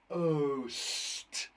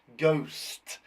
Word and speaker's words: ghost: If we sound it out, ghost, ghost. There's a silent letter in there.